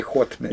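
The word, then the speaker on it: Haut-Médoc: Yeah, you would say Haut Medoc.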